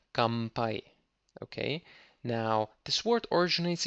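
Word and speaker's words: 乾杯: 乾杯、かんぱい、乾杯、 Kampai is spelled with an N, but Japanese people like to pronounce it with M sound, so it's kampai.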